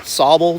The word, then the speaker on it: Sable: even though the spelling is ace s-a-b-l-e they pronounce it sabal dooms we're on a trail heading down to sable dunes which is right uh right along the lake shoreline and we'll show you sabo falls in a minute that feeds into or